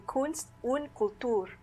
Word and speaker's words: Kunst und Kultur: It takes a moment, but gradually it dawns on you that Kunst und Kultur must mean arts and culture. No, that's not the pronunciation. Kunst und Kultur.